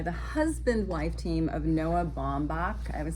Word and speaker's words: Baumbach: This is co-written by the husband-wife team of Noah Baumbach. I would say his name wrong.